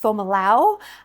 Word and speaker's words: Fomalhaut: Now, you might sometimes hear it pronounced Fomalhaut. I'm pronouncing it Fomalhaut because I asked one of the AI robots to help me figure out the correct pronunciation, and that's the one that seemed to be its preference. But I've definitely heard it pronounced both ways, which is why I double checked.